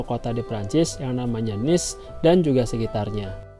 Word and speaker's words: Nice: di Prancis yang namanya Niss dan juga sekitarnya. Meskipun tulisannya sama dengan tulisan bahasa Inggris, tapi cara bacanya bukan nice ya, Teman-teman. melainkan Nis.